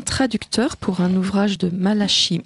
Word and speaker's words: Malachi: pour un ouvrage de malashi Martin je prononce à la française intitulé La Maison